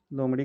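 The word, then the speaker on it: lamb: है किड या लैम इसमें बी साइलेंट होता है इसको लैम नहीं लैम बोलते हैं बकरी का बच्चा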